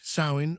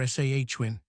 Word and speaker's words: Samhain: The most important festival for the dark half was called asterisk samhain asterisk pronounced sain or sahhwin.